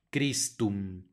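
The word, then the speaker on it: Christum: conocemos Cristo en latín c h que se pronuncia como kristum y el amen lo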